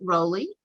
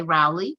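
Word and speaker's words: Rowly: if if roland's nickname do you pronounce it raleigh or rowley um i pronounce it rolly right uh there are people here who say rowley i'm you know and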